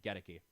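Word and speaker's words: Goedeke: Lou Gedeke, that's how you say his name, Gedeke.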